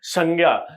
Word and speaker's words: संज्ञा: तो देखिए ये जो संज्ञा है ना तो सबसे पहले तो इसका हम उच्चारण ही गलत कर रहे हैं। जो हम उच्चारण कर रहे हैं अगर हम ज्ञ उच्चारण करते हैं ना तो ज्ञ का शुद्ध उच्चारण क्या है? ज्ञ तो शुद्ध रूप से देखा जाए तो संज्ञा के स्थान पे हम संज्ञा भी बोल सकते हैं।